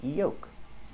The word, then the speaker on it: yolk: we don't say yolks the L is silent we pronounce the word Yoles no l no Yol it's yoke use long o sound